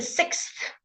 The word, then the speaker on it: sixth: The sixth. Okay, this is very difficult because it's a x and then a th sound.